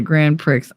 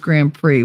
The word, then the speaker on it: Grand Prix: being hot cover what up that's how you spell it Grand pricks I know but it's pronounced Grand Prix which you know that's just unfortunate uh hide